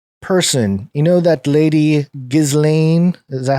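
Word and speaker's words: Ghislaine: a very peculiar person you know that lady gizlane is that how you say her name what was the way you say it maxwell jizzling yeah her little prison that she's staying at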